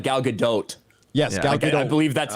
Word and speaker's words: Gal Gadot: american i think you do actually say the t it's not like uh like dough like a cookie dough it's like gal gadot yes i believe that's